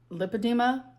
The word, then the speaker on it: lipedema: time one more time one more time lip edema there we go all right now we know how to pronounce lipedema I need to learn